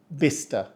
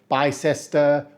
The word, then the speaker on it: Bicester: it's spelled it's pronounced bister like sister but with a B so we don't say Bicester or B Chester and if you're saying